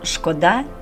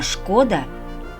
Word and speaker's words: шкода: Друзі, запам'ятайте, кажемо шкода, коли мовиться про щось даремне, марне, а шкода, коли завдано збитків. Наприклад, шкода часу. Шкода, що розбили вазу.